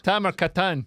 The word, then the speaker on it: Tamer Kattan: Tamer Kattan, yeah.